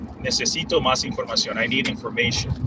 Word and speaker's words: información: There are some rules that we don't want to get into that, but the intonation, the stress, the accent mark goes into there, like the O.